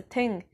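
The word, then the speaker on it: þing: following a council meeting called the ting which is spelled like thing and i wish it was pronounced that way but it wasn't anyway he got some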